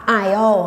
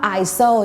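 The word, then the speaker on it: aisle: ยก ตัว อย่าง เช่น คำ ว่า ial เงี้ย ทาง เดิน เนี่ย หลาย คน ก็ จะ พูด ว่า ISO ใช่ มย ซึ่ง ตรง เนี้ย ถ้า เขา ได้ ยิน ก็ จะ ดู ไม่ Professional ละ ฉะนั้น การ ออก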